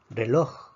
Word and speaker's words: reloj: Reloj, reloj. Reloj también es una palabra aguda. La fuerza está en la última sílaba.